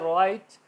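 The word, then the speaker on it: write: रंग टर्न ठीक है इस तर राइट डब्ल्यू आर आई टी राइट होता है तो डब्लू साइलेंट होगा आर आई जी एच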